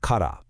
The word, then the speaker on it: から: And the answer to that question we just asked, it lies in this single really powerful particle, kada, pronounced kada.